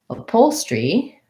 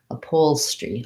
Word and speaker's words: upholstery: then when i say upholstery um again it's a pole and then my s-t-r-y all goes together upholstery upholstery and this is an e sound upholstery again second syllable